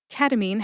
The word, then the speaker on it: ketamine: Ketamine has three syllables. K like a keg of beer. T like tug as in tug of war. And mean as in bullies are mean. Put all that together and you get ketamine.